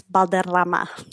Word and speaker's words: Balderrama: Balorama. Or if you want to have the correct pronunciate pronunciation, you can roll your Rs and have some fun with it. And it's balama.